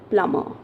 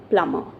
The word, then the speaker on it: plumber: right is it plumber no we speak it as plummer right so the letter b is silent here right so we speak it as what do we pronounce we pronounce it plummer okay so next time